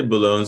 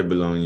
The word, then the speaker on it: Bologne: I say Bologne. Some people say Bologna. Yeah. I mean, it depends Belonging. on how French you want to get.